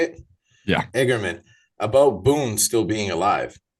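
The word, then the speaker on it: Eigerman: igerman is that how you say it yeah igerman about Boon still being alive Decker is trying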